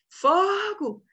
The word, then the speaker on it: fogo: sentido Pois é mas o correto é fogo fogo fogo é uma paroxítona e aí gente a